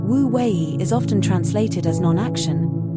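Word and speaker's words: wu wei: The ancient taroist principle of wooi offers a radical alternative to the culture of endless effort. pronounced wouei. Wui is often translated as non-action, but this can be misleading.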